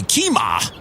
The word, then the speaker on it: Kemah: know when you see a word that looks like kemah you find out later it's no way we say keema but he said it